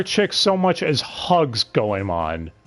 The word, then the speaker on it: Goemon: Oh, speaking of Goemon, they do not know how to pronounce his name, real quick, before we go on. Goemon, Goeman, I heard a couple of times.